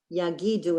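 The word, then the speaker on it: יגידו: those are accents so on the word yagidu it's not yagi-do it's yagi-do and on so that gives you the accent that's the accented syllable it is not a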